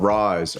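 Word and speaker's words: Ryze: It's called Rise, R-Y-Z-E.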